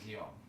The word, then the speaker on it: Guillaume: How do you, Guillaume? No, but it's with L's, isn't it? Yeah, no, that's how you spell it. But that's, okay. That's how you spell it, but you pronounce it Guillaume.